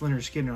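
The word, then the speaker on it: Lynyrd Skynyrd: As Leonard Skinner pronounced Leonard Skinner.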